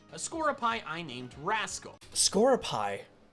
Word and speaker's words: Skorupi: Scoropie? That's how it's pronounced. I was gonna say Skorupi.